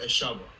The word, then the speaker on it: Eshovo: So my name is pronounced Eshovo, Eshovo, and Oh.